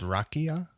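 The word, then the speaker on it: rakija: on importing some liquor from the balkans called rakia i think that's how you pronounce it it's spelled r-a-k-i-j-a i'll put a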